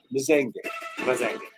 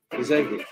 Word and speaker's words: Mzengi: Because David actually said that it's pronounced Mzengi. Right. Mzengi.